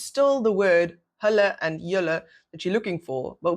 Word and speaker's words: julle: Julle is the pronunciation, technically, the two syllables. Again, pronouncing l-e as l-e.